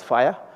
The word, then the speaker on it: FHIR: FHIR, they pronounce it as fire, which means fast health fast health care interoperability resources for health.